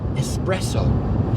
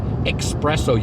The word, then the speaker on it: espresso: a new word okay espresso not like the Americans say espresso you guys it's not espresso it doesn't have an X in it and the moment one